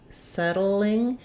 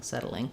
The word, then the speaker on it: settling: british so in settling it's like the word saddle where we have the flap um so not a lot of sound between the d and the l but a little bit of a syllable there so on so unsettling